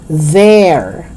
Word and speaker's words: there: voice right the the there there it's not the sound of d the it's a indicia bear okay no it's there so again stick out your tongue and put some voice in it there you can feel the vibration right in your mouth there okay good okay